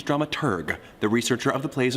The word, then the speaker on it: dramaturg: The correct pronunciation is dramaturg, the researcher of the plays and operas being put on.